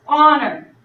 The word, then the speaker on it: honor: So an example of this, honor. Even though honor is spelled with an H, we don't hear that H sound. We just hear the on sound. So that would be an honor.